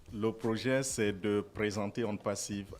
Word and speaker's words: OnPassive: Ils viennent nous présenter la compagnie One Passive. C'est ça, monsieur Fernand, j'ai bien prononcé? Bonjour. Bonjour. Pas parfaitement, c'est on passive. Oh, On Passive. Ok, d'accord, voilà. Parce que c'est en anglais.